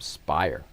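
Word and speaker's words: Speier: That's Gabe Spire, by the way. I had the pronunciation wrong. Gabe Spire.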